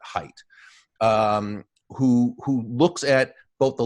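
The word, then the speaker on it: Haidt: Jonathan Professor Jonathan Hite spelled H AI D T but he pronounces it Haight who looks at both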